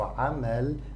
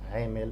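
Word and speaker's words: عمل: So amal, this small line above the ain and above the mim, this tells us to pronounce it a, like a. Amal, not amil, not o.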